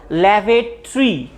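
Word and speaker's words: lavatory: এই ভাওয়েল যে রয়েছে, এই ভাওয়েলগুলো সাইলেন্ট থাকবে, ঠিক আছে? তাহলে আমরা কি বলবো? ল্যাভেটরি, নট ল্যাভেটরি, নট ল্যাভেটরি, ল্যাভেটরি মানে হচ্ছে শৌচাগার, বা যেটাকে আমরা টয়লেট বলে থাকি।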